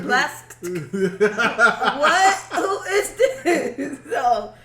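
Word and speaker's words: Blxst: When I told her how to spell it, I was like BLAXT. I'm like, Blast.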